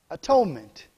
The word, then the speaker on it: atonement: that means if you're breaking down three syllables at one meant atonement his desire is to